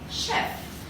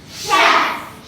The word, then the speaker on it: chef: Chef. Chef.